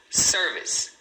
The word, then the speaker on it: service: Então a pronúncia em inglês é self service. E aqui, ó, você tem duas sílabas. Service, service, né? Sendo a primeira, a mais forte.